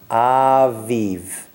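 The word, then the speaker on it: אביב: So it's a, v, v. We're going to blend it. It becomes aviv.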